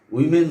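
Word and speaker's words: women: উইমেন society বলা হয়, ওমেন বলা হয় না। আমরা কথায় কথায় আমরা ওমেন বলি ফেলি।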